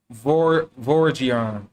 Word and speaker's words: Vortigern: The T is silent and the M is inflected, as it is common in the Celtic, and it is given the sound of a V. The word is phonetically pronounced Vorgiern or Vorgiern, and signifies a great lord, a prince or ruler, So the word is